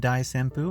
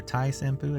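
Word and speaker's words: 大旋風: We have Dai Senpu, or Tai Senpu as it's pronounced.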